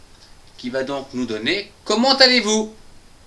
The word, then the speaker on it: comment allez-vous: va donc nous donner comment allez-vous ? Comment allez-vous ? Vous allez bien ? Je vais bien aussi. Comment allez-vous ? On fait bien une liaison entre le ta.